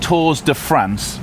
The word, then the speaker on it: Tours de France: Tours de France. That's the right way of pronouncing, isn't it?